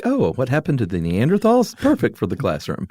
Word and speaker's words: Neanderthal: So Neanderthals, the correct pronunciation is tall, by the way.